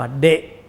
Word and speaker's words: เดะ: ไอร สระ เอด เด็ก สระ อะ อ่าน ว่า เดะ สระ เอ ด เด็ก ด แด็ก สระ อะ